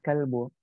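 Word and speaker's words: كلب: Jadi hati-hati bedakan antara kolbu dengan kalbu. Coba bayangkan beda kof dengan kaf. Kolbu itu hati atau ya hati. Kolbun hati. Kalau kalbu itu anjing.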